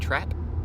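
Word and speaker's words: Trep: Brief shout out to Excursia and Trap. Was it Trap? I assume that's how it's pronounced. That's how it's spelled. Yeah, it's not Track. It's T-R-E-P, right? T-R-E-P, yeah.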